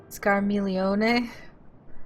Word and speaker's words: Scarmiglione: Scarmiglione?